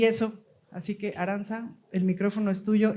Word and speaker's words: Aranza: Según recordamos, le quiero ceder el micrófono a Aranza, ¿se pronuncia Aranza o Arancha? Aranza.